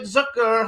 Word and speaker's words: Zucker: with Ron Russer, film director, writer, producer, David Zucker. Hello and welcome to the show. Thank you, and thank you for pronouncing my name correctly.